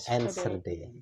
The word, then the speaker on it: Enschede: Yeah, it's Enschede. like with the hard G in the beginning of throat. Okay, Enschede.